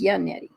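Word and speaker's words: Yannetti: reason for this none janetti that's that's how you pronounce his name is Yanti Yanti comes out differently here and there so we'll say good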